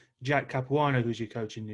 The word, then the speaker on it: Capuano: and things what did you learn from jack capuano if i'm pronouncing his name correct yeah you just said